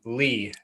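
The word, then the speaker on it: Leigh: Her name is Riley, which is spelled R-Y-L-E-I-G-H, which is the street we live on. We live on Lee, Okay.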